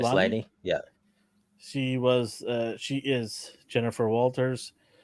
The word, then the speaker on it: Maslany: Tatiana, how do you say her last name? Maslany? Maslany?